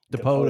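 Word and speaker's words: Dipoto: Depoto.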